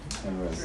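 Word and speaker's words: Amaryllis: This one, Amorillis. Did I say it right? Amarillis like the flower.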